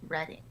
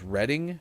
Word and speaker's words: Reading: friend from reading pennsylvania and it is to pronounce reading but is it is it reading pennsylvania then